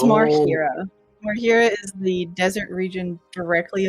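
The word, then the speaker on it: Marhira: DC is low uh natural 20 it's marir marira is the desert region directly above aelion which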